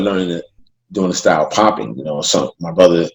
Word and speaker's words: Popin: is you know especially it's pronounced popping out he was you know are seeing my name as pop in people thought that was what the dance how I pronounce it but it's actually popping and so and when